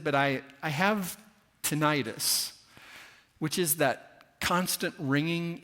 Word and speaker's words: tinnitus: It turns out both ways are pronounced correctly. In Britain, they say tinnitus, and in America, we say tinnitus, which means tinnitus is the correct way.